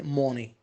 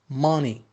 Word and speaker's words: money: Don't say money. Ma. Between O and A. Money.